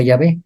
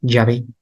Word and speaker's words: Yahvé: Ahora, ¿cómo insertaban las vocales? Quedaba prácticamente como Javé, Yahvé.